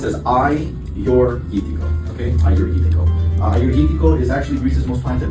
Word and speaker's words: Agiorgitiko: Um it's pronounced as I your okay is actually Greece's most planted red grape variety.